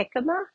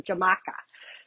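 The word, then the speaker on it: jícama: a fish dish and it had a hikima in it and I I didn't know what that was and it's spelled it's a Mexican um food and it smelled spelled with a J and I went into the store asking for a jamaka.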